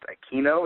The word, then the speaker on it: Aquino: an older player joey i think his last name is pronounced aquino is that right yes you got it joey aquino he's 23